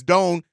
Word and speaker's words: Doan: I called you. I thought that's how you pronounce it. It's Doan.